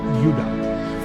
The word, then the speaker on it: Judah: More properly pronounced Judah, because we didn't get the harder sound to the J until about 200 years ago.